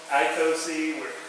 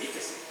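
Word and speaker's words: είκοσι: We were saying Ecosi, we were saying Icosi. I had my sister-in-law is actually Greek. And so I had to go to her and say, how do you say 20 in Greek? She said Ecosi.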